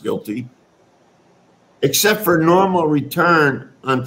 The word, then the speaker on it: GILTI: The act, as I see it, they've attempted to broaden the tax base by adding a new minimum tax known as the GILTI tax, pronounced GILTI, except for normal return on tangible asset investments abroad, such as factories and equipment.